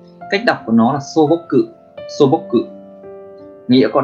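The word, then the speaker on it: 素朴: Cách đọc của nó là sô bốc cự, sô bốc cự.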